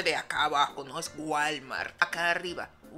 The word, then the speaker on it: Walmart: No es Walmart. Acá arriba. Walmart. No Walmart. Walmart. Walmart. Al final. Tienes que pronunciar la T.